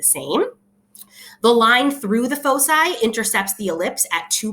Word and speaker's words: foci: from two distinct points which are called the foci that's how you say it foci the foci is constant so again um the